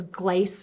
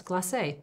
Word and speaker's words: glacé: with, it'll say here, it says glace or gloss or glacé without the accent on the end of it. Does it have an accent there? Yeah, it does, glacé.